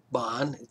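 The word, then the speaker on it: Bagne: a g n e Bon it's pronounced Bon but it's spelled b a g NE it's a French word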